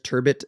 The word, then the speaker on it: turbot: up dude and there's turbot and turbo all over the place the majority of people are pronouncing it Turbo French the French pronunciation of it is Turbo that to leave that